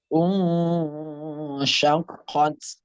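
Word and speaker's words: شقت: Nah, qafnya juga ditebalkan. Syaqqat. Taknya karena dia adalah tak sukun, di akhirnya itu ada hamesnya. Ketika tak ada hamesnya, maka dia bersifat ada sedikit sa kecil, tapi minimal kita yang mendengar, maksimal orang mendengar. Tapi sedang-sedanglah kita maupun orang juga mendengar. Syaqqat. Ya, jangan syaqqat. Nah, tidak ada hamesnya.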